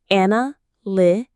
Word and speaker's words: analytic: The main stress falls on that li part. A n li. It comes from the word analyze which means to study something carefully. Let's say it one more time. Analytic.